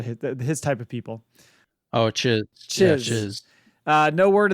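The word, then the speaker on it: Chiss: Is it cheese? I always say it wrong. Cheese? Whatever, his type of people. Oh, chiz.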